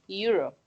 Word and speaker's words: euro: Euro. Que sonaría más a esta palabra, euro. Como la palabra se pronuncia euro, es como si se pronunciara con una Y.